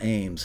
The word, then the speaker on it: Eames: But if you go back and look at the Taxi TV episode with Michael Ames, whose last name is spelled Eames, he and Bobby Borg have been on the show, I believe, 3 times.